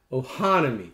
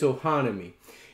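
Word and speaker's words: Ohanami: Ludwig misses both said uh Oni on a Ohana me that's what it is oh honey I'm sitting here trying to pronounce it it's Ohana me it's a 2019 card game closed drafting pattern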